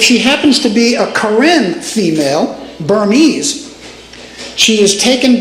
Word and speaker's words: Karen: Many of the indigenous people in that area of Western Myanmar are known as the Karen. It's like the female name Karen, but it's pronounced Karen, K-A-R-E-N.